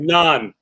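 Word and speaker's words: naan: okay I got it nonan Nan Nan okay yeah okay not the not the bread that you get it from a great Indian restaurant nonan no n yeah write that down because I've been saying it wrong for years yeah now is there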